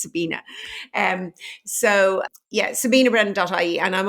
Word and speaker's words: Sabina: So sabinabrennan.ie is my website, and I'm Sabina, not Sabrina, and I can usually guess your age if it's because of the Teenage Witch or the original Charlie's Angels.